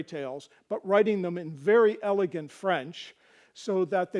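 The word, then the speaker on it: vair: other is v r r e both are pronounced there the ver he was referring to the v a iir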